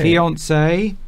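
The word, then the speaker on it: fiancée: Fiance. Fiance. So that's the man. If the woman, this is the female equivalent. It's pronounced exactly the same.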